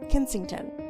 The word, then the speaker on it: Kensington: And actually during the marriages or the marriage, they mainly lived at Kin Kensington Pal.